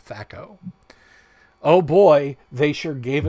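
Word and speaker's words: THAC0: his name is t-h-a is spelled t-h-a-c-o thako oh boy they sure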